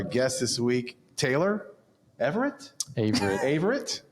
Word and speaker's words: Averitte: Averitte. It's a hard A. It's a hard A. With an I.